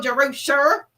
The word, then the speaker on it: Jer: Jer, that's how you pronounce my name.